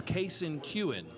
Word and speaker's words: Kason Kewen: mentioned – Real quick, for Kason, it's Kason Kewen. Okay. Is how you pronounce it.